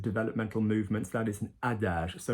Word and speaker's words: adage: That is an adage. So not adage, adage. Soft G, because G followed by an E and an I in French is soft. So adage.